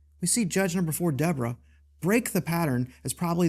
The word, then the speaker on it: Devorah: I'm referring to what we would typically call the judgeship of Deborah or Devorah for those that have an Eastern pronunciation.